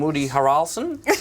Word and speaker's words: Harrelson: You weren't in White Man Can't Jump, but you were in The Glass Castle with Brie Larson and Woody Harrelson. That is the correct pronunciation.